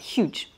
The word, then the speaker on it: huge: hein vous savez quand en anglais mis à part quelques rares exceptions on prononce le h ce qui est une